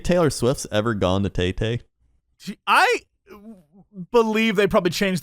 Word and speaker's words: Tay-Tay: it's not Tay-Tay, it's Tie-Tie or something. Like, sorry, I don't know things. All right. Sorry, I don't know it's facts. It's spelled T-A-Y-T-A-Y. Okay, that's Tay-Tay. T-A-Y, that is Tay-Tay. That's Tay-Tay. Yeah, take that up with Taylor Swift.